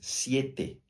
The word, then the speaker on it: siete: e 700 no espanhol não se diz sete se diz Siete normalmente os brasileiros caem